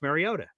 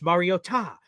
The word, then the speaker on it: Mariota: Marcus Mariota, but like they kept saying Marcus Mariota Mario Ta." And I'm like, what are they doing? And then after the g after the game, Marcus gets asked, "Hey, uh, the broadcasters were saying this weird frigin pronunciation of your name. Can you clear that up?" He says, "Yes, I cleared it up with them. Everyone has been saying it wrong my entire 10 year career and saying Mariota.